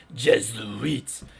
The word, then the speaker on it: Jesuits: eat a dick Jesuits you gotta say it how it sounds Jesuits it's not Jess like it's written on paper it's a z the S is a z Jesuits and look at that